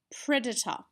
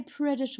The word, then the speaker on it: predator: don't tend to say predator all if we live in England we might but we live in Australia and we tend to use the schwa sound the O are from